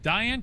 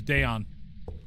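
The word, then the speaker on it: Dayan: Are you telling me that it's pronounced Diane? Because I don't think it is Diane. I'm pretty sure it is Dayon. Because I'm pretty sure I looked up the pronunciation of the ghost, and it's Dayon.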